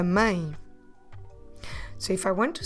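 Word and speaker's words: mãe: a teal e and because of that teal accent we need to do the sound ah and it's a nasal deep tongue so we do I a mine so if I want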